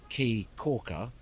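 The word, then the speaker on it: Caye Caulker: C A ye so where I went the island is called key Corker but it's spelled c a Yee which surely spells K I mean for [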